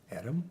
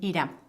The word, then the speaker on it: Edam: I can't pronounce a lot of them. There's a few cheeses that I really like. Um, edom. Edom. Edam.